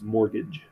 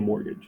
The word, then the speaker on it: mortgage: what this word means mortgage and notice that t is silent when is it t silent well it's cylinder yeah yeah that's what we usually think when you think of paying a mortgage right like if you